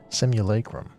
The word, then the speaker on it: simulacrum: her fellow researchers that's how you say it simulacrum we and this wondrous vessel masquerading as a